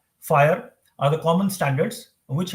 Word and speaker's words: FHIR: It is pronounced as FHIR.